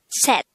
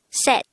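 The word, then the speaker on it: 셋: pronounce it with me set if you would notice set is spelled with a say it character at the third position but take note that this is pronounced with a t sound first we need to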